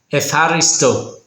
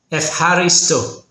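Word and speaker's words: ευχαριστώ: Eh haristo. Almost got it, Brian. Say f like an effort, then ha soft like a laugh. And resto with stress on the last part.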